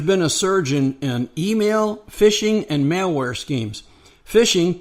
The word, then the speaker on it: phishing: They note that there's been a surge in email, phishing, and malware schemes. Phishing, pronounced like fishing, but it's spelled PH, is a scam where